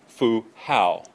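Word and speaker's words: Fu Hao: neatly on these King wuding 1250 and Lady fuha those of you who want to pronounce the Joe Jiao notice AO is Al Fu how AO is Al so King wuding and Lady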